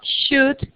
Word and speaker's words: should: alguno de estos tenemos sh sho no se pronuncia la l es como una ulga should entre u y O pero se alarga should must es una a